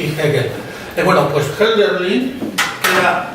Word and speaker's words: Hegel: La H inicial en alemán es una especie de aspirada andaluz, Hölderlin y Hegel.